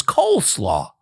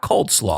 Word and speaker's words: coleslaw: It's Coleslaw, not Coldslaw.